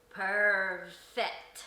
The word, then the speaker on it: Pervfect: of unique right so how you say it again is perfect all right so you combine two words into one yes all right so